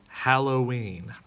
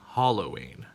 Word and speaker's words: Halloween: foliage also we have officially halloween not halloween right when it comes to